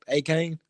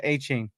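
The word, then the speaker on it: Achane: Dolphins, I hate they lost the running back, A-Kane. Did I say it right? Yeah, A-Chain.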